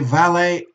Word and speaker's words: valet: groom a rakish a valet and baby you okay not not pronouncing with the T okay so this is